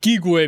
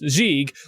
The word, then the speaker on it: gigue: I learned what gigue means, even though it's actually pronounced gigue, which is both a dance in the Baroque